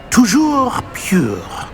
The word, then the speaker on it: toujours pur: Toujours pure.